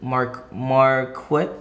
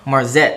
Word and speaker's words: Marzette: Was it Marquette? How you say it? Marzette. I'm sorry.